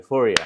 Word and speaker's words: Fourier: So how to pronounce FOURIER? FOURIER Audio. FOURIER.